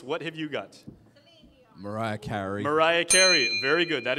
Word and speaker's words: Carey: CrossFit Laddie Stone also said Mariah Carey. Good answer. Very good. Yeah, apparently it rhymes with Harry.